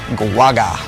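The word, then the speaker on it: Guoga: self-named Butcher of Baghdad Tony G guaga so that's how you say it guaga tonight we bring you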